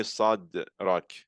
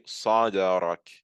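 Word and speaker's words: صدرك: So I'm not going to say sadrak. I'm going to say sadarak, sadarak.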